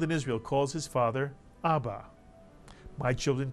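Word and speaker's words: אבא: mitsu by the way the accent in this word is placed on the first syllable ABA and what does the word ABA mean father or daddy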